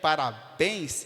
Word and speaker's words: parabéns: Por exemplo, café, parabéns e açaí são sílabas oxítonas, porque a sua tonicidade está na última palavra. Café está em fé, parabéns está em bens, e açaí está no i, na última sílaba.